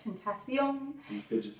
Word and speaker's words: XXXTentacion: XXXTENTCION. I guess you have to say it like that. Tentacion.